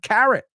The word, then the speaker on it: carrot: It's almost like saying Karen, pero con T. Carrot. Hey, have you talked to Carrot? Have you talked to Karen about the carrot? So, olvídate la O y la R. It's not in there. It's not there.